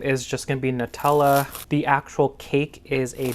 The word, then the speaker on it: Nutella: to say it wrong in this video it's Nutella that's wild anyways so I'm going to continue